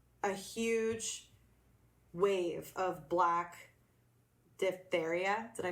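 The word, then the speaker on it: diphtheria: and there was a huge wave of black diptheria did I pronounce that right yeah which is a bacterial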